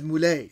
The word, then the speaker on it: Moulay: But in Morocco, they use the word, they take the word Mawla and they say Al-Mawla so-and-so. But they just pronounce it as Moulay.